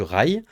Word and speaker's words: Ray: Raay le stade du Ray qu'on prononce je l'ai appris juste avant l'émission le stade du rail du rail oui mais attention tu